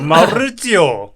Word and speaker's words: 마우리치오: 이거 이탈리아식으로 발음을 해야지 매우기 쉬워. 마우리치오.